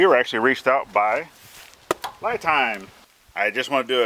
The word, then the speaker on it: LiTime: battery so it is Li time Li time is the pronunciation not not lie time so my bad now